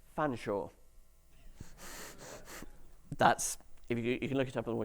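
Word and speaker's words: Featherstonehaugh: This word is pronounced fanshawe.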